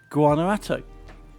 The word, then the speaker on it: Guanajuato: Finally, Urban Cross Country, yeah, around Guanajuato. I can pronounce it, you know. Guanajuato.